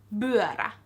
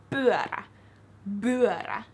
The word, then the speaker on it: pyörä: But if you pronounce P words with more of a B, so like bolku or pyörä, which is meant to be pyörä. If you pronounce it with a B, it sounds off. So if you just focus